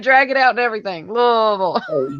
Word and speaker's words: Louisville: You probably pronounce every single syllable and every single vowel. Because that's how you enunciate when you talk. Yes, ma'am. Louisville. See it? I knew it. I knew you would say it like that. Every little vowel. Yeah. So if you want to sound like you're from here or if you've been here before, just be like Louisville.